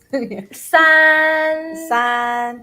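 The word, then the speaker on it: 三: Since the tone is like the flat one, so okay. San like make it longer.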